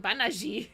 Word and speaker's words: Banaji: But then I heard it, and then it's like, nope, that's how they pronounce his name. Banaji.